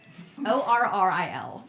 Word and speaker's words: Orril: Orril is her name.